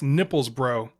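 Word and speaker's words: Knippelsbro: and by the way that's nipples bro with a k okay silent k there's magda burger brook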